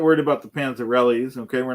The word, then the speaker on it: Panzerotti: We're not worried about the Panzerottis. Okay, we're not worried about the Leven-Smiths. Panzerotti. Okay, you pronounced Yeah. that correctly because in your little thing that you were doing earlier, you said Panzerelli.